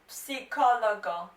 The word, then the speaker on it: psicologo: and that is lo psicologo. Lo psicologo. Now guys, to pronounce this noun properly, remember to pronounce the P, because there is a little bit of P.